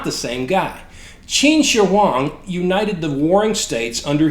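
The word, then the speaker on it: 秦始皇: I heard the name of China's first emperor pronounced Shi Wang D first of all this is wrong the Chinese pronounced the name of their first emperor as nearly as I can get anyway as chin Shang and second even if the first pronunciation was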